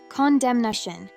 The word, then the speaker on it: condemnation: However, its noun form, condemnation, has 4 syllables, which is pronounced as condemnation, and the N will need to be pronounced.